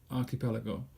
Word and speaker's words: archipelago: okay so there you are archipelago don't forget pronunciation ah keep go archipelago a group of islands so finally all I have to say to you is can you name an archipelago put it in the comments all right that's